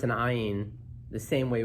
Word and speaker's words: ayin: ayin the same way we pronounce an aleph, that is just silent, right? But certainly, even in Sephardic communities today, but definitely back then, there was a different pronunciation for the ayin than the aleph, right? It had like a guttural sound to it, right?